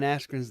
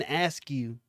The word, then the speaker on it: Askren: How about Michael Buffer saying Ben Askren's name wrong? Really? That's what they said. Ben Askew or something.